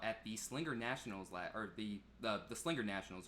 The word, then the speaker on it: Slinger Nationals: He was out at the Slinger Nationals the Slinger Nationals, right?